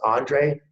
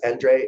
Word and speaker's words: Endre: introduce Endre Nagy, and it's pronounced Andre if you're in the US, Endre if you're in Europe. So either way it works. And Nagy is pronounced Nagy in the US and Naj everywhere else.